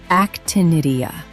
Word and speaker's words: Actinidia: This fruit is called actinidia, pronounced actinidia.